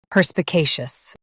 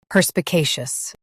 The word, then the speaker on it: perspicacious: perspicacious perspicacious US starts with per. UK starts with puh.